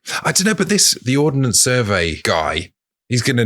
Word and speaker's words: Ordnance: And I feel like I might have pronounced Ordnance Survey as Ordinance Survey earlier. And I don't want to get emails. I just want to say I know it's Ordnance, not Ordinance. But yeah, maybe it's like